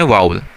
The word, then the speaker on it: vowel: हमारे यहाँ एक तो एक बुरी सी जो है वो प्रोनाउंसिएशन, इसको वॉवल पढ़ रहे होते हैं कुछ लोग, भाई ये वॉवल नहीं होता है, इसको वाउल पढ़ते हैं, ठीक है। इसकी प्रोनाउंसिएशन है वाउल, ठीक है।